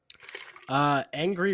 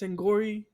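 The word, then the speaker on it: Angourie: Angry Rice, or I can't say her name without wanting I to think I laugh. think it's in I think it's Angori. It's Angori Rice.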